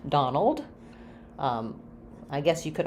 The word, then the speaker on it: Donald: while we're at it so Donald has the stress on the dawn syllable um and it has the a vowel so just like words like job or problem typically letter o in